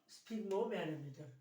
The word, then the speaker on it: sphygmomanometer: Sphygmomanometer. Pronounced as sphygmomanometer.